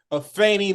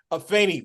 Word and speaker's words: Afeni: Hey, my people, I am thrilled to have Afrika Afeni Mills. That's right, Afeni with the A, all right? You see it with an E, but you pronounce it with an A, all Yeah.